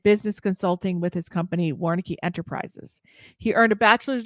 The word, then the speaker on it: Warncke: Dustin Vaughn, I am going to try to pronounce his last name, Warncke. Let me see if he's looking at me backstage. Is it correct? Okay, he's saying yeah.